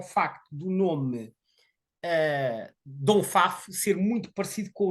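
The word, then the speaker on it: Dompfaff: por vezes também é conhecido pelo nome de Dom Pfaff. Dom Pfaff, como é que isto se escreve? D-O-M-P-F, F de Faro, A-F-F. Portanto, Dom Pfaff.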